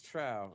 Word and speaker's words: Trowe: How am I pronouncing that last name right, Paul? Am I getting that right? It's Trowe. It's Trowe.